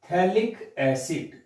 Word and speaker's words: थैलिक एसिड: अगर स्टूडेंट्स इस पे 2 COH आपके ऑर्थो पोजीशन पे आ जाते हैं तो इसको क्या बोलते, PS साइलेंट रहेगा, थैलिक एसिड, थैलिक एसिड बोलेंगे इसको।